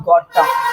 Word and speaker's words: gotta: अब next word हमारे पास में लिखा हुआ है गोटा।